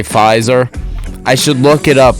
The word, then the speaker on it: Pfizer: I'm pretty sure you're supposed to say Pfizer.